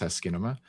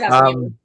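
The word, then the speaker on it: asciinema: For those who aren't familiar with Askinema, I learned that it's pronounced Askinema. Is it Askinema? I mean, it's Askinema. It's actually in their doc. It is Askinema.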